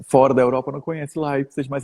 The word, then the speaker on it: Leipzig: Então tem gente que fala Leipzig, e eu falo Leipzig.